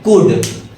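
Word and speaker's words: could: ओ यू एल डी इसको हम पढ़ते हैं कुड अमुक जन इसको कुड पढ़ते हैं कुड नहीं होगा एल साइलेंट होगा इसको हम पढ़ेंगे कुड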